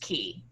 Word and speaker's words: quay: It's spelled quay and pronounced key.